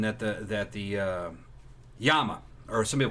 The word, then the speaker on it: Llama: the that the uh yama or some people called llamas that's what it was either the correct pronunciation is a yama uh it was either